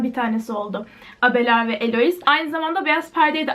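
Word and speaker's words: Héloïse: Ronald duncan'ın abeler ve eloi buna çok fazla Elo diye sı var ama elois diye okunuyor bu mektuplardan oluşan bir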